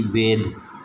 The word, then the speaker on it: بید: آگے ہے جی بید۔ بید میں آپ دیکھ رہے ہیں کہ تلفظ ظاہر کرنے کے لیے اس نے بے کے بعد بڑی یہ ڈالی ہوئی ہے۔ اس کا مطلب یہ ہے کہ یہاں پر یہ جو ہے یہ یائے مجہول ہے۔ اور آگے ہے جی